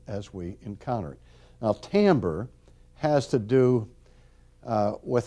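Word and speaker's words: timbre: what else anything else how about tamber it's pronounced completely different from what you think it would be pronounced when texture form so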